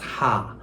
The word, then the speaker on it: Haar: 머리카락 하나는 das Haar, 복수, 여러 개는 die Haare 이렇게 됐었죠. 요 R 소리가 단수일 때는 묵음 처리된다는 거 기억해 주시면 좋을 것 같아요.